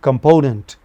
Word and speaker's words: component: But component the second syllable from left, the middle syllable is in first is stressed. Never initial syllable.